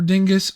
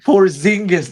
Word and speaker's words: Porzingis: Porzingis. Yeah. Chris Porzingis. Chris Staps for Dingus for Jonathan Kuminga and Buddy Hild. I poor Zingis, not Dingus.